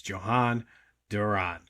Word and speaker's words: Jhoan Duran: Obviously, the Phillies the other night picked up Jhoan Duran, which I believe is the correct pronunciation. Probably going to hear all kinds of different pronunciations of it, but from what I'm gathering, it's Jhoan Duran.